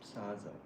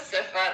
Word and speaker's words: Sifa: Saza. Saza. Did I pronounce it? My name is Sifa.